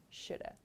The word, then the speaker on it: should have: So as I explained, this pronunciation is the most common one, shoulda. I should have studied more.